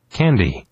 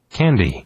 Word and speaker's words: candy: 실제 네이티브는 캔디가 아니라 candy, 캔디 강세가 앞에. 한 번 더 들어보세요. 캔디가 아니라 candy, 캔디 이렇게 강세 앞에 있어요.